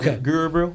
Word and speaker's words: Gurubrew: Guru Brew.